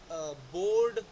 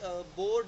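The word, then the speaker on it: bored: Like बोर्ड और fixed, smuggled, bagged. देखो अब जैसे बोर्ड है, अब हम इसे बोरेड या बोरिड तो नहीं बोलते ना, तो ई जो है वो साइलेंट हो गया क्योंकि ये डी से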